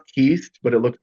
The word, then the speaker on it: Kuest: um the last name is k s it's pronounced ke but it looks like quest with a K right that's right Quest love but anyway um Kyle ke Kyle ke um but it's like you said